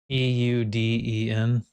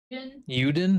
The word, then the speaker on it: Euden: main character, and I don't know how to pronounce Uden's name. Euden. Uden?